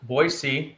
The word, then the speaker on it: Boise: And the way that you uh pronounced Boisey tells me that uh tells me that you're, you know, somewhat acquainted with the uh local culture here.